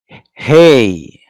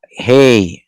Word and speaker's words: He: So hey. Okay. Mm. Uh, hey. It's pronounced as like letter H.